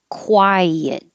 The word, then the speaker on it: quiet: quite cold today and 22 is two syllables quiet your tongue should go very high for the eye quiet and then slide down and make a y so you could say